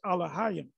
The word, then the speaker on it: Elohim: listen to a little bit more and it's pronounced al-ahyam and he's talking about the elohim which is which is plural allah young the